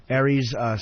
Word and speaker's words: Aries Spears: Aries Spears.